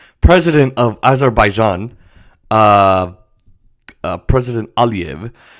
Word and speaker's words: Aliyev: president of Azerbaijan, President Aliyev, make it sound Russian. He's a Russian, like Vladimir Putin. Anyway, President Aliyev, that's how you pronounce it, was giving an interview, and he kind of lost it.